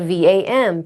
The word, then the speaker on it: vam: We can chant the mantra vam, spelled v a m, pronounced v a u m, vam, We can do the hand mudra.